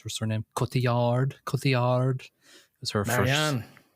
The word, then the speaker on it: Cotillard: How do you pronounce her surname? Cotillard. It was her Marianne. first. Yeah, Cotillard.